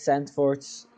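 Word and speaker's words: Zandvoort: i was like okay it's sand forts eat a lot of cheese will get through it to say it like a true dutchman but it was long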